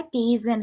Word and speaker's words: Kaizen: जो first one है केजन है, इसको हम प्रोनाउंस कैसे करते हैं, केजन।